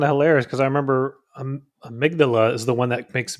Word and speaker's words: Amygdala: Amygdalia? You know what? I don't know. I'm not even going to try. Amygdala.